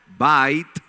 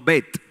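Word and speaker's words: בית: bait casa en hebreo Cómo se dice casa en hebreo bait no bet ojo algunos yo he escuchado que bet no bet es un constructo una cosa pero yo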